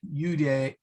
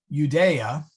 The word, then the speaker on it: Judea: same idea uh universa uday sorry judea i always want to split that syllable the wrong way universa judea abdom advent